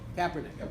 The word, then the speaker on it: Kaepernick: does how does colin is it Kaepernick or Kaepernick I don't know how he pronounces evening definitely Kaepernick okay well he's exercising